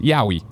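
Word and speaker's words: yaoi: And then Kebab says, Yao, what I was butchered is pronounced Yowie.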